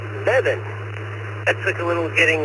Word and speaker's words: Mebane: As for the location, I called it Mabane until I moved here. The locals promptly corrected me, and apparently it is pronounced Mebane.